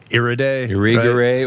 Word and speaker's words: Irigaray: theories of Wittig and Irigaray or Irigaray, depending on it's like I've heard it pronounced in French, and then these Beauvoir, these major feminist writers who wrote on gender theory before.